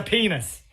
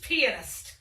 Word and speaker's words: pianist: And my father is a penis. It's pronounced pianist.